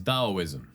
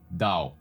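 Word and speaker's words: Taoism: The first philosophies we're going to talk about today is Daoism. Yes, it is a T. And yes, I am still pronouncing it with a D because that's just how it's said apparently. Dao.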